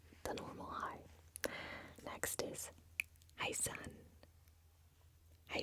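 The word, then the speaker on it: Hei: Now, it is like hi, like you would say hi, but it's spelled H-E-I with a little accent on top, so it is spelled differently, but it sounds like the normal hi.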